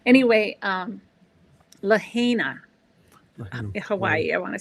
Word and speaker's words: Lahaina: Anyway, Lahaina, Hawaii, I want to say, if I'm pronouncing it correctly.